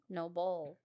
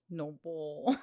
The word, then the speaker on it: NOBULL: At least I can pronounce NOBULL correctly. NOBULL. Noble.